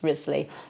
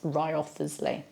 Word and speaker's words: Wriothesley: Charles Ridley and we have Thomas Risley we do not have Charles and Thomas Wriothesley so there's a few